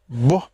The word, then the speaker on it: Igbo: Igbo is quite beautiful. Igbo. Igbo, like B W.